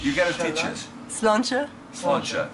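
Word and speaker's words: Sláinte: Slánse.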